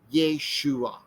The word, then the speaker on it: Yeshua: here and then the final gather letter i yin it looks like a y with um and long a at the end so this reads yeshua okay that was the